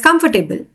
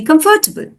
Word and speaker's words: comfortable: your mouth for example the word comfortable is often pronounced by many of the English speakers as comfortable but it's actually comfortable try saying it now it's simpler than you think comfortable comfortable strategy number